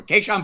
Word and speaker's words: Kahan: Kahan booty. Yes, that is correct pronunciation. People, I will remind you. I've been going with bouty Matt forever, thinking it sounded more appropriate. Kahan would like us to know his booty.